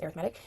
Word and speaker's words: arithmetic: A sequence or series can be either arithmetic or geometric. arithmetic or geometric. For some reason it's pronounced a different way. So an arithmetic sequence is just a adding sequence kind of.